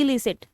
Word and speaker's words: illicit: चीज़ को भी हम एलिसिट बोलते हैं। तो उसको क्या बोलते हैं? एलिसिट। इलिसिट, एलिसिट, इलिसिट बोलते हैं। इलिसिट, आई की प्रोनाउंसिएशन ई होती है, EED, इलिसिट।